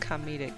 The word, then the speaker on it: comedic: was for comedic purposes comedic yeah that's how you say it com comedic like kamina from guren logan it was for comedic